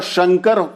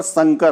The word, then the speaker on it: शंकर: वहां शंकर की जगह पर संकर होते हैं।